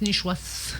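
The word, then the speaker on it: nishuasht: Le I ne se prononce pas. Nichwas. 7 se prononce Nichwas. Il s'écrit Nichwasht.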